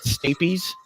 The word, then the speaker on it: stapes: whistle in between the in this and they're pronounced it's stapeys yeah i'm just like oh oh like the